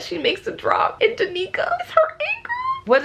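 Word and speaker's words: Danika: My friend Mel informed me unintentionally that her name is not Danica, it is Danica.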